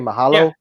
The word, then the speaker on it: mahalo: Yeah, Mahalo.